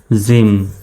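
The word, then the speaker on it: gym: এখানে কি ওয়াই আছে তো জি এর পরে যদি ওয়াই আসে জি এর উচ্চারণ কেমন হবে জ এর মত হবে তাহলে এখানে জি ওয়াই এম কেমন উচ্চারণটা হবে জিম তাহলে জি ওয়াই এম গিম হবে না জিম হবে জি এর পরে এবার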